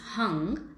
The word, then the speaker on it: Hung: last sound, which is Hung. It's spelled as H-U-N-G, but it's pronounced as Hung, and is the infinite, vibrating and real. Hung suggests 2 sounds, 2 syllables.